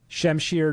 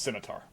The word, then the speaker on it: scimitar: Shemir Nick and then War Warhammer push. It's pronounced scimitar.